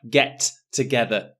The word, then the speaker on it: get together: And for the pronunciation for get together, notice there is only one T sound. I don't say get together, get together.